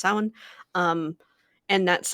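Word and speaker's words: Samhain: but I I do celebrate sin um or Sam Han as some people pronounce it but it's it's correctly pronounced sin.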